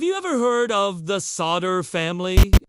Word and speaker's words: Sodder: Have you ever heard of the solder family? It's pronounced sa so dairy.